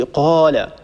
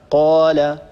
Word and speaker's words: قال: أيضا يا أختي عندك مشكلة في حرف القاف، بالذات لما يكون حرف القاف بعده ألف، لا تبالغي في تفخيمه، لا تقولي قال، الصواب هكذا قال قالت، لا نبالغ في التفخيم هكذا، يعني حسب ما سمعت،